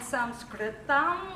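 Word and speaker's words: संस्कृतम्: do a chant in some script on which is how you say Sanskrit in Sanskrit so if you would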